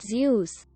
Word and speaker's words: Zeus: presentation a kid asked you do know it's pronounced zeus right quote jesus christ i'm